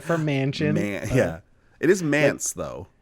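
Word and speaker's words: Manse: This is Dance of the Manch, short for mansion. Yeah, it is Mance though. It rhymes with dance. It is Dance of the Mance, but we love to abbreviate cards.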